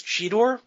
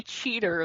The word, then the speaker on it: Cheetor: They are bad pretty much throughout, although him declaring his name as Cheetor is the only time in the episode he pronounces his own name correctly. Yes, Yeah. because then he proceeds to be Cheater the rest of the episode.